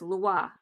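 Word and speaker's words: lwa: The Creole noun for spirit is loi, which is pronounced like the French word for law.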